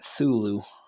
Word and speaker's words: Cthulhu: Because, like I said before, I think it's interesting that the AI goes with the silent C version of Cthulhu, making it Thulu, which is something that I've heard people do too.